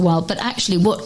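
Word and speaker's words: Weil: It's while like you smile.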